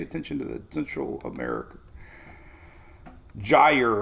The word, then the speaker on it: gyre: say it one year it's pronounced gyre like tire all right tropics all